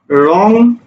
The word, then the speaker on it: রং: অনুসারের উচ্চারণ হয় উঁর মতো, ঠিক আছে, উঁ, অনুসারের উচ্চারণ হলো উঁ। লক্ষ্য করো, আমি একটা শব্দ লিখলাম রং, দেখো তো, আমি যদি এটা লিখতাম, উচ্চারণ কিন্তু এটা হবে রং।